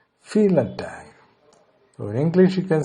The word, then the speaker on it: vielen Dank: Now it's pronounced vielen Dank.